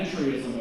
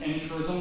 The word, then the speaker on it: entryism: Sometimes it's pronounced entrism, they leave the Y out, but it's the word entry, like entry through the door, ism, like a philosophy of how you enter.